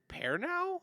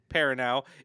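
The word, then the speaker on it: Perrineau: It's got Harold Pernow. I'm probably mispronouncing his name, but Parinau.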